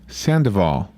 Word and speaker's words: Sandoval: wrong so all right say it again like three people that know sandoval sandoval sandoval yeah don't read it just say it duval like duval county san diego okay uh